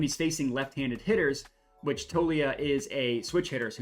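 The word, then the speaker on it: Toglia: the life as for Michael tolia toia excuse me I realize I've been pronouncing his name incorrectly Michael toia he has the benefit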